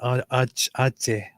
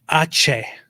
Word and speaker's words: Aceh: My wife was accosted somewhere in Ate.